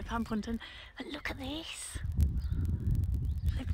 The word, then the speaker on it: Panpwnton: at plum panton farm that's how you say it pun panton i think pan puntin actually no pam ponton and look at this